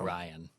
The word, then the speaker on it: Orion: Orion. Oh, I said it wrong again. Sorry. Well, it's like Orion's belt.